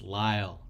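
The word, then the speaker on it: Lile: good so uh Leia Lockhart or Lyle it's Lyle yeah well I gotta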